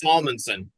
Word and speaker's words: Salmonsen: Yes, Salmonsen. Salmonsen. Yep. My apologies, an emphasis on the L.